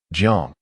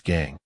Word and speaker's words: Jiang: As their friendship blossomed, Jiang Mingyan's strong regional accent often led him to mispronounce his surname, Jiang, as Gang, prompting Ji Yuning to affectionately refer to him as Old Gang or simply a Gang.